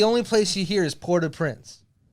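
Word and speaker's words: Port-au-Prince: place you hear is pora Prince and I know it's spelled like Au like aou you know love that sauce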